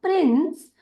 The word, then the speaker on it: PRINCE: पहले ही बताया कि जब कभी भी सी इस अक्षर के साथ ई या आई या वाई लगकर आता है तो उसका उच्चारण होता है स के रूप में, इसीलिए PRINC हो जाएगा प्रिंस।